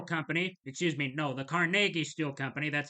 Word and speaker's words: Carnegie: And during an 1892 strike by the Amalgamated Association of Iron and Steel Workers, the Carnegie Steel Company, excuse me, no, the CargI Steel Company, that's how it's properly pronounced, Carnegi, paid some 300 Pinkertons to act as security at its mail in Homestead, Pennsylvania.